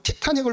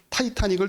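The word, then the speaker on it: Titanic: 만서 교제하는데 자꾸 나바로 티타 닉을 받는 거예요 티타닉 티타닉 그러면서 티타 닉이 뭐야 봤더니 걔네들은 타이타닉을 티타닉이라고 읽더라고요 아마 보셨 분들이 있을텐데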